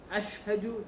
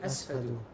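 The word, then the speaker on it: أشهد: Instead of saying ashhadu, he would say ashadu.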